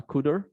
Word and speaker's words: cdr: called car and cdr which i think is pro pronounced uh kuder but uh yeah they're